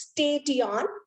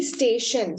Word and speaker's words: station: words like station okay it is like when i am going phonetically it is state yawn but it has to be station so ti is being substituted with the sound sh so these are the